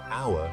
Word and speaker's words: hour: For instance, you'd say an hour because hour starts with a vowel sound, even though it's spelled with an H.